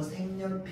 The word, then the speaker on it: 색연필: 자, 그런데 색연필 이렇게 얘기하면 발음하기 되게 어렵거든요. 자, 그러면 발음하기 쉽게 하기 위해서 우리는 어떻게 할까요? 어, 기억을 이응으로 비음화시켜 가지고 생렬 이렇게 발음하게 되는 겁니다.